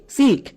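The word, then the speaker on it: silk: তার মানে এই আই এর জন্য এলটা আর সাইলেন্ট হবে না।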